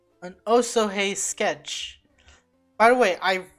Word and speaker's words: Osohe: Maps just said an Oso hey sketch by the way I really I finally realized that it's pronounced oh so hey not whatever I was calling it why is this thing